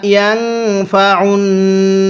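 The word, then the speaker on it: يَنفَعُ: এরপরে বিমা ইয়ানফাউন নাসা, হ্যাঁ আমার সাথে পড়ুন। বিমা ইয়ানফাউন নাসা, আইনটা পড়ার সময় গলার মধ্যে চাপ দিয়ে পড়লে আইনটা সহি শুদ্ধ উচ্চারণ হবে।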